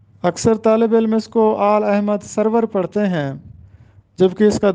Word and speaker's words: آل احمد سرور: ہم نے کتب خریدی۔ آل احمد سرور، اکثر طالب علم اس کو آل احمد سرور پڑھتے ہیں جبکہ اس